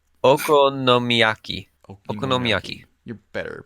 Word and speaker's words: okonomiyaki: Tempura or not even gonna try akomaki. Okonomiyaki. Okonomiyaki. You're better at pronouncing that.